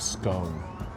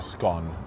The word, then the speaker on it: scone: It's almost like um a scone or a scone. However you want to pronounce it.